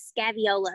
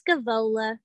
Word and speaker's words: Scaevola: I said it wrong for years. I like to enunciate every single letter. I was calling it Scaviola, but it's Scaevola.